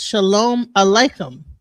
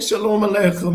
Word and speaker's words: shalom aleichem: It says that in the traditional and literal translation of peace be unto you in Hebrew is shalom aleichem. Shalom, and it's spelled SHALOM ALEICHEM.